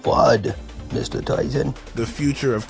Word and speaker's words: FUD: to no food koala it's pronounced fud Mr Tyson the future